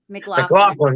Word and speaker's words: MacLachlan: Kyle MacLachlan or something. McLaughlin.